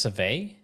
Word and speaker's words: civet: I know there's that, like, I think it's pronounced Civet. It's spelled S-I-V-E-T. Suve.